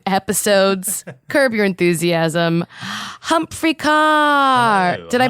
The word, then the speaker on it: Ker: Humphrey car. Did I pronounce last name? Did you pronounce it perfectly? I do sometimes want to say Kerr, but because that's how it's spelled uh